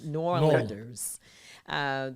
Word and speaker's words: New Orleans: And both of these two beautiful Black New Orleans, I guess, I'm sure they'll correct me, because people from New Orleans, you got to say it right. New Orleans.